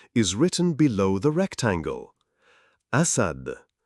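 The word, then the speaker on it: أسد: Alif is the first letter in the word lion in Arabic, and the pronunciation of the word lion is written below the rectangle. Asad, Asad, Asad.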